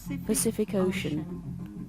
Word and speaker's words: Pacific Ocean: Por ejemplo, escuchen cómo suena Pacific Ocean. Todas las Cs suenan diferente. La primera suena como S, la segunda suena como K y la última suena como SH. Pacific Ocean.